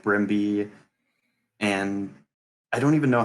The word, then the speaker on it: Brmibe: pronounce your your name I have pronounced it because when you mash my names together like that that's how it would be pronounced and that's just how